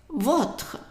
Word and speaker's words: votre: Remember, the French O is a short O. O. O. It's an open and short O. So how would you pronounce this word here? Parfait. Perfect. Votre. Votre.